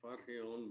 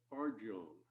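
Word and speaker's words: Farjeon: by eleanor f-a-r-j-e-o-n and i didn't know how to pronounce this i i kept trying to give it a latino pronunciation photon but no in fact it is eleanor fargone and morning has broken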